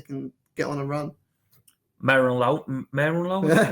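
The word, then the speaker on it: Merlin Röhl: Merlin Rohl, is that how you pronounce it? Merlin Rohl. Yeah.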